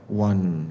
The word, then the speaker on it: one: Ini pakai the karena ini bacanya one ya. W A N.